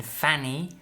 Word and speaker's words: Fanny: In Fanny, and we've got in funny, okay? So it's the same as in cat and cut.